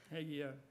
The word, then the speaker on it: Hagee: Am I pronouncing his name correctly? Hagee, yeah.